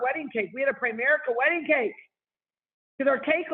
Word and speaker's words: Primerica: make the cake just stop talking about prime America and we're like it's Primerica you better say it right or we're not gonna